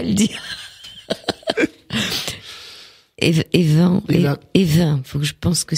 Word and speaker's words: Even: Et comme ça s'écrit E-N en général, on dit en, hein. C'est-à-dire que les noms sur la côte se disent Even comme pour Daven.